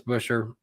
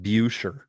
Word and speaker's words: Buescher: He always used to say it like Buescher, like Bueller. Buescher. That's what I like. It's more James Busher. I always thought it was pronounced like Busher.